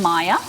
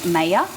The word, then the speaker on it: Maya: really like the name Maya but I get worried about people being able to pronounce it because m a y a people would say mayor you know what I